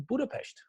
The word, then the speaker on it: Budapest: Budapest in Hungary and Budapest is how the hungarians pronounce it so budapes is tourists you know visitors I'm just telling you so that's the reason why I say budapes because the single s in Hungarian is is a like a sounds in